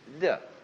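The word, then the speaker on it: 德: Virtue in Chinese is d. We romanize it as t e h d.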